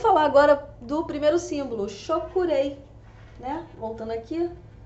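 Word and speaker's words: Cho Ku Rei: Pronuncia-se, Shokurei.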